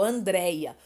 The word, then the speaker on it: Andréia: escrito errado, por exemplo, Andréia. Andréia leva acento, mas eu já vi Andréia sem acento, então nós sabemos que tem a sílaba forte, o DREI, né?